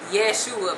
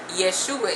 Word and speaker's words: Yeshua: and the next letter letter in Yeshua is the S sound but actually um in Hebrew it would be an sh that's the Hebrew sheen sheen but um Greek the